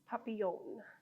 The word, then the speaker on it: Papillion: It's Papillion.